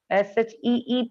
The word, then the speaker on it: sheep: Pronunciation is really important. SHIP is ship. SHEEP is sheep. E sound double the time. See, so see here, sheep and ship.